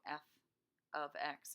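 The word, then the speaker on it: f(x): that's why I wrote f of X and quotations because that's how you pronounce this is not F times X even though parentheses usually means multiplication not for function notation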